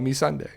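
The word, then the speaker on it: Missandei: it's kind of funny it's a great way to remember how to say her name though me Sunday so we'll see what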